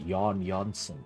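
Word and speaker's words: Jan Jansen: Oh, he pronounced it Yon Jansen. Okay, slightly more Swedish.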